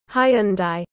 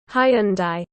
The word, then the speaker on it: Hyundai: care and stay driven Hyundai Hyundai as much as they say there is no master of pronunciation I am never going to say it like this high and die icon